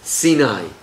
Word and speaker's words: Sinai: Mount Sinai. But in Hebrew it's pronounced Sinai. It's the same root in pronunciation as Sinah.